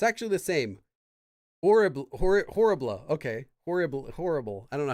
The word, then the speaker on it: horrible: You don't pronounce the H. Okay, so it's horrible.